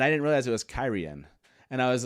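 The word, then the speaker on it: Cairhien: I always just said it um I always pronounce the city carhene and I didn't realize it was kyrian and I was like uh but I probably did realize it but it was kyrian at some point but then I was like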